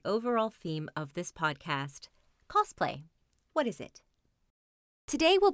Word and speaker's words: cosplay: But either way, it should be pronounced cosplay with an S, not cosplay with a Z.